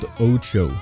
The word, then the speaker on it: OTXO: Yo, what's up everyone, and welcome to a game called OTXO. That's how to pronounce it, I'm not making that up.